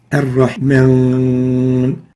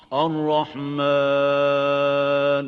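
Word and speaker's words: الرحمن: Ar-Rahman. So it's Ar-Rahman, not Mon. So avoid nasalization when pronouncing the alif. Make sure that the alif is pronounced without ghunna.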